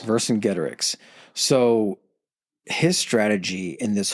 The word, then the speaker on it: Vercingetorix: How do you pronounce his name again? Vercingetorix. Vercingetorix.